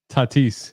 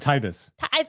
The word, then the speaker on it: Tatis: that name how do you say that name tatis tatis thank you that wasn't far I forget what I said I thought you said Titus I don't know what I said yeah I